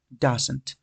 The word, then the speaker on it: doesn't: sería does not o la pronunciación de la abreviación que a muchos se les dificulta es doesn't hacemos sonar la al final no doesn't puede que cuando estemos haciendo enlace de pronunciación que esto es algo El linking que es algo que vamos a aprender después en clases de fonética pueden observar que la t tiende a desaparecer porque lo vamos a